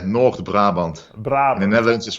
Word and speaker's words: North Brabant: huh yeah that's true from Netherlands North Brabant did I pronounce that properly yeah yeah North Brabant but I mean evidence